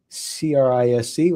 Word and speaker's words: CRISC: Army officer and holds certifications including CISSP, CRISC, which I think is pronounced C-RISC, but I'm not sure, CISA, and the Certified vCISO, which I'm sure we'll talk about in just a few moments.